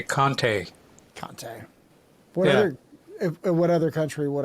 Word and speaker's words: Conte: It depends on what country you're in. If you're in the United States, you say Conte.